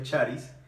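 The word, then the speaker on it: χάρις: el diccionario digamos griego se dice que se pronuncia charisse y el significado es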